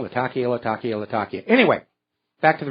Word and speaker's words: Latakia: apparently in one of the terrorist positions in lakia Latakia I keep mispronouncing that the reason for that believe it